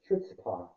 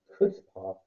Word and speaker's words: chutzpah: Chutzpah, and colossal nerve, a Yiddish word. See entry for stag. The ch is pronounced as authority. Chutzpah, chutzpah, stag.